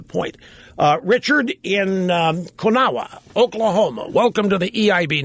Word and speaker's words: Konawa: rush and it's uh cona Oklahoma sorry about that I had to guess at the pronunciation well it's actually pronounced both ways and uh uh my